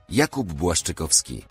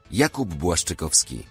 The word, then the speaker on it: Jakub Błaszczykowski: 20 footballers' names you are pronouncing wrong. Sokratis Papastathopoulos. Sokratis Papastathopoulos. Jakub Błaszczykowski. Jakub Błaszczykowski.